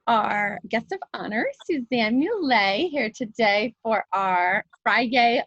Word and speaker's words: Mulet: It rhymes with creme brulee and Chevrolet, and filet.